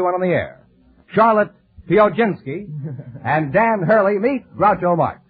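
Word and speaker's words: Piechocinki: with you uh Charlotte uh how do you pronounce your name pinski would you mind spelling it p i e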